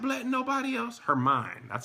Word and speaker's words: Hermione: Hermine. That's how you pronounce it.